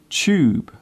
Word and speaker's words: tube: Do you notice how I pronounce the word tube? The first part of the word sounds like chair.